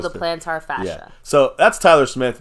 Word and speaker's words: fascia: with the torn plantar fasciitis, right? Okay. Fascia. Fascia. I always say it wrong. That's all right. You're used to saying fasciitis, but that means like an inflammation. Okay, yeah. Plantar fascia.